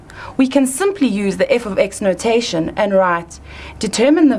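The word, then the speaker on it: f(x): X close bracket equals X plus one we pronounce this as f of x equals X plus one that's pretty similar to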